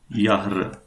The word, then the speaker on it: Jahre: Yahr. Yeah. This is how it is pronounced.